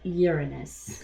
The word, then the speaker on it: Uranus: I'd also like to just point out for people listening or watching, listening primarily, notice how we are all pronouncing Uranus. It is Uranus.